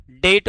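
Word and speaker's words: debt: इसे अंग्रेजी में डेप्ट कहते हैं जिसका उच्चारण डेट होता है।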